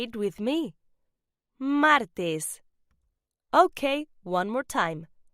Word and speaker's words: martes: Tuesday is pronounced martes. Say it with me. Martes. Okay, one more time. Martes.